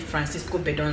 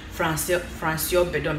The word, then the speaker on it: Francoise Bedon: Okay, some people call it Francisco Bedon, some say it's Francis Bedon or something, but it's actually pronounced Francoise Bedon because it's a French name.